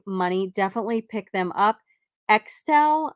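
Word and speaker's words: Axtell: Extel, I think is how you pronounce it. It's A-X-T-E-L-L.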